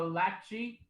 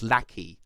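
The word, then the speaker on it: Lachie: first spoke lucky because your name is spelt like lackey like like like a henchman kind of spelling right people people spell it differently like the the guy like the wiggles the new purple wiggle is also named lockheed but he spells it with a y i spell it with an i.e right fair enough okay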